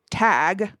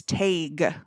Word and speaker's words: Tadhg: So the DH in his name is spelled Tadhg. Mm-hmm. And in Gaelic, DH indicates, it turns the previous vowel into a diphthong. Oh, interesting. Yeah. So instead of being tag, it's taig.